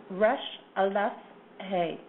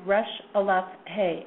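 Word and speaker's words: Ras Alhague: sense of direction now the way this name is pronounced is rash Al he it's called rash Alf hey and the common name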